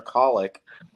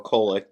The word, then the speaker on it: Kolek: So moving down, we have the 2 seed Marquette, who now, with the reemergence of a healthy Tyler Kolek, or Kolek, depending on your pronunciation, has blitzed through their first 2 games.